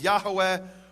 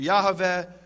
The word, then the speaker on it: Yahweh: In fact, it says there in the Hebrew, Yud He Vav He, which I pronounce as Yehovah, others pronounce as Yahweh or Yahweh, and I won't go now into the reasons for those differences.